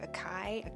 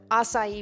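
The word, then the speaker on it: açaí: you remember when you didn't know how to pronounce asai I do it was like aai a what is that but assai bowls at Mission market are fantastic the peon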